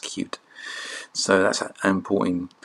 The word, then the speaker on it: Qt: also known as cuticle it's actually is actually its name pronounced cute so that's an important